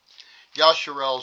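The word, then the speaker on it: Yisrael: Okay, Yasharel is the proper way of saying Yrael. It's called Yasharel.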